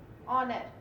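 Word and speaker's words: honour: इनकी दे रहा हो, जैसे मैंने आपको ये बताया ऑनेस्ट, आवर, ऑनर। तो ये सब जो है ना, आवाज देखिए यहाँ पे एच साइलेंट है लेकिन स्टार्ट ये एच से हो रहा है, आवाज ये किसकी दे रहा है, वॉवेल की दे रहा है।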